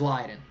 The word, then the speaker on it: Leiden: and then question 15 how is Leiden pronounced is it pronounced Leen or Leiden it is um it is Leiden and my source is somebody who lives in the Netherlands so it is lien thankfully that's one of